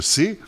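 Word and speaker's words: Say: John Stuart Mill, évidemment, avec ses principes d'économie politique qui paraîtront en 1848, ou encore le français Jean-Baptiste C. C, ça s'écrit S-A-Y, pour ceux qui ne connaissent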